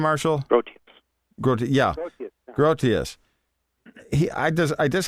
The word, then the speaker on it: Grotius: I can't think of his oh Hugo um grotus is that how you say his name Marshall grus gr yeah grotius he I just I just have a quote